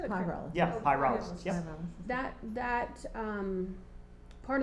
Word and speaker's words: pyrolysis: Just for clarification, that paralysis, the mention of paralysis is, did I say it wrong? You said it Pyrolysis.